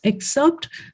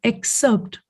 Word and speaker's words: excerpt: yes thank you also the word that you use except the pronunciation is excerpt yes i've sent it